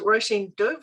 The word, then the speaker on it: Róisín Dubh: yes our house is called roshin doof for those who are not sure how to pronounce it um it's an irish word that means black rose um my partner is